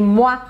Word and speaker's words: mois: Por exemplo, quando eu digo les mois de l'année, les mois, eu não posso pronunciar esse S. E o I em francês sempre vai ter um som de wa, wa.